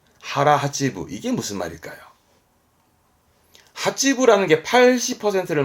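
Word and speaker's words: 腹八分: 앞에 거는 배복자입니다 복근의 복자죠 오나까 아닙니다 오가 있어야 오나가고 오가 없으면 하라 그래서 발음은 하라 하지브 하라 하찌부 이게 무슨 말일까요 하찌부라는게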